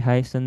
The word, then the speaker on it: heiße: Bisa ich heiße, ini yang seperti huruf B ini dibacanya S biasa ya.